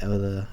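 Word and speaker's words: Ilya: This is often resembled as twins where you have Ella and the Liss. That's how you pronounce Ella's name.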